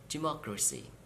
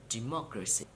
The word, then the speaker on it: democracy: and now through the for the words ending with C Y T y ph Y and G Y please count syllable from the end of the world and at the third syllable you have to stress for example democracy democracy